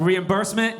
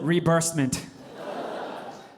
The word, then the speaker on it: reimbursement: Like reimbursement, he calls it rebursement.